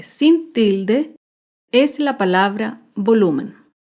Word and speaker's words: volumen: Otro ejemplo de palabra grave sin tilde es la palabra volumen. Volumen se acentúa en la penúltima sílaba, pero no lleva tilde porque termina en N.